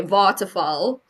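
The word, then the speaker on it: Waterval: V A L but you pronounce in South Africa a W is pronounced as a V and a V is pronounced as an F.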